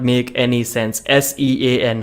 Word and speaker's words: Sean: not make any sense s-e-a-n how is that Sean isn't it seen ninety percent of the Indians would pronounce it scene like there are many